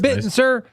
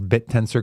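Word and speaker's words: Bittensor: By the way, you know how long it took Rob to finally pronounce bit tensor correctly? About seven months. Seven month. What was he calling it? He kept calling it bitten, sir.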